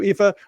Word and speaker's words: Aoife: common outside of Ireland my name is spell a o i f and it's pronounced EA as you very rightly said Thank you and my